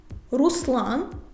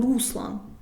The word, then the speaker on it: Руслан: колір фольга як Ольга Руслан русло Ми ж не кажемо Руслан Юра де-юре Маринка соломинка